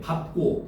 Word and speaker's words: 밟고: 자, 두 번째는 밥은 자음 앞에서 밥으로 발음한다는 거야. 오케이? 밟고 할 때, 밥고, 밥다 이럴 때.